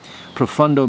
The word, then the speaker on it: Profondo: profumo or this one profundo aco de gio armani profundo spelled with an o but pronounced with a u profundo means deep or intense